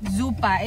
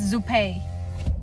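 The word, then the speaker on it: Zuppa: Babe, uh Mike says that the is not it doesn't um pronounce like um zupa is zupe.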